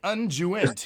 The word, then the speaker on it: unguent: me someone look up u-n-g-u-e-n-t unjust he says is the pronunciation for that uh than the people